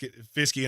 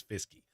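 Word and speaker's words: Fiske: on the screen and it screams Fisk to me but his name is fisky this gives me a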